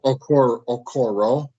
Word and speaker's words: Okoro: Is that how you pronounce it? Okoro.